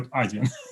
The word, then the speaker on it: Adyen: So, because I've heard a lot of versions from Odien to Adyen to like something like this. But let's stick to Adyen.